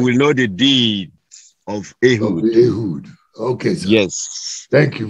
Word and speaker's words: Ehud: Let me go to Ewood, Rabba. That name is biblical, is spiritual. Means a lot. Thank you so much. I'm so sorry for messing. Religious, yes. That name is pronounced Ehud.